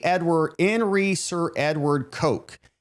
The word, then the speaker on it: Coke: Hey, in re Edward in re Sir Edward Coke. His surname is pronounced Cook.